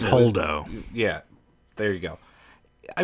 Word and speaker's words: Holdo: Like, the one thing I wish that they did with Voldo, or however you pronounce her name. It's Holdo.